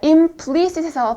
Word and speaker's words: implicit: 자, implicit에서 발음의 강세는 V에 있습니다. implicit 이렇게 할 거고요.